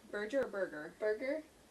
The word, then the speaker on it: Berger: Berger? Berger or Burger? Burger? Berger. It's B-E-R. Yeah, so I'm like, is it, what kind of G is it? A hard G. No, a soft G.